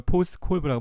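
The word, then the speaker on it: POSDCORB: 그래서 이걸 포스트 콜브라고 발음해요.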